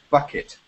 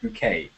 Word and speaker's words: Bouquet: Her name is Pyint Bucket but she insists on everyone calling her bouquet now. Yeah. So it's not bucket it's like French pronunciation bouquet.